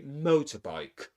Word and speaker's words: motorbike: So the main stress in the compound noun is mo, and we say motorbike.